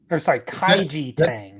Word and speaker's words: Kaiji Tang: And then we had Kaiji Tang.